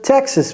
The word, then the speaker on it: Texas: avez entendu Texas Tex Texas vous voyez c'est le T le D dont j'ai parlé tout à l'heure Texas donc apprenez à